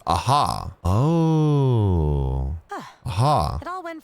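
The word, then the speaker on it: Ajaw: your registration is complete you don't say the J so it's aha oh aha it all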